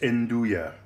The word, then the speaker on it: Nduja: That's how it's pronounced, Nduja.